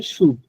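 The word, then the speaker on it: chaud: শুড মানে হচ্ছে গরম, শুড উচ্চারণটা হচ্ছে শুড। আমরা যে সুদ। সুদ মানে ইন্টারেস্ট, বাংলায় যেটা সুদ, ওইরকম একটা উচ্চারণ আর কি, বাট মিনিং হচ্ছে গরম, হট।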